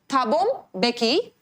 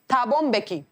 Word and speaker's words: Thabo Mbeki: Then Thabo Mbeki, this is the way you are going to pronounce it, ठीक है। Thabo Mbeki was sworn in as first deputy president।